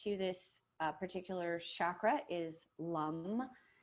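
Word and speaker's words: Lam: this particular chakra is lum l-u-m is how it's pronounced but you might see it also spelled l-a-m but it's pronounced lum so we using that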